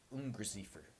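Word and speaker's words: Ungeziefer: a gigantic insect now the word he uses there in German is une receiver and I probably pronouncing that incorrectly but it's UN ger z IE fer and that is the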